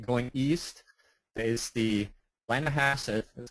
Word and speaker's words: Blennerhassett: And then if you're going east, there is the Blennerhassett, that's how it's pronounced, Blennerhassett Island Bridge that was opened in June of 2008.